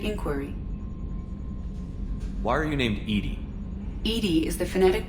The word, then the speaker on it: EDI: have a specific inquiry why are you named edie is the phonetic pronunciation of edi that is an acronym for